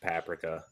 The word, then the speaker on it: paprika: to work in kitchens it's pronounced paprika paprika oh my god hideki